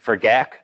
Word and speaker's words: GAC: If for GAC [granular activated carbon - pronounced gak] you take it out and burn it - you incinerate it.